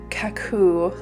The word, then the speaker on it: Kakoo: Now these little bottles from Kakoo, I think is how you say it, K-A-K-O-O, little needle nose bottles, decided